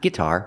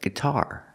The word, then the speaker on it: guitar: g g guitar guitar put the stress on the second syllable guitar not guitar but guitar look let's talk about